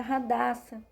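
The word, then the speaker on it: Hadassah: ela era judia e o nome dela se pronunciava era Radassa oi e ela foi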